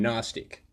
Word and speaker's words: gnostic: knowing I'm not agnostic I'm not religious I'm Gnostic I like to know luciferianism it's Gnosticism agnostic